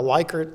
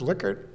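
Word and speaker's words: Likert: today we're going to talk about the lyker scale and she raised her I I think it's pronounced liquer and he said my dear I know what I'm saying it is the lyer scale and she said well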